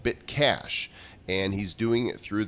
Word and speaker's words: BitCache: And he said it's Bitcash, and that's spelled BitCache. So cash as in not cash money, but like to cache files, you know.